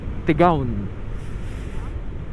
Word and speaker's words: Tigaon: tigon cer na tayo tigaw ng pronunciation talaga diyan eh ang basa tigaon tigaon tigang nagalit sa